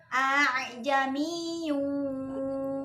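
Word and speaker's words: ءاعجمي: Nah, jadi bacanya a'jamiyyu wa 'arabi.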